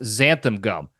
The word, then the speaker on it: xanthan gum: It's also spelled with an X, and it's pronounced xanthan gum.